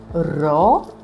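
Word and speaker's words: ρο: We have raw which looks like the English P but it's not pronounced as P because what is pronounced as P? this letter here that we already said. So, ro r is a sound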